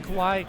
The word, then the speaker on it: Kawhi: For example, like I'm seeing, how do you pronounce his name? Kawhi, Kawhi, yeah. Kawhi.